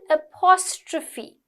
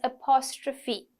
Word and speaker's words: apostrophe: Next one, apostrophe. Okay, it's pronounced as apostrophe. PH is like a little F sound.